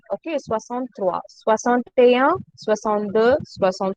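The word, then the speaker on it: soixante-trois: hear Swasant A Trois. Don't pronounce A. Okay. Swasant Trois.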